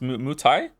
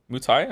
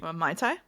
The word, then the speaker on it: Muay Thai: I'm most interested in is it called pronounced Muay Thai? Muay Thai, I think. That looked like the most interesting one to me. Mai Tai?